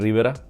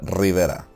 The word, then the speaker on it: Rivera: I was being called Mr. Rivera, not Rivera.